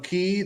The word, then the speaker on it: Quay: I bought her some sunglasses, some key. They spell it like Quay sunglasses.